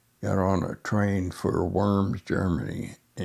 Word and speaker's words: Worms: When we got to Brain Island and got off and got on a train for Worms, Germany, pronounced the Vums in German.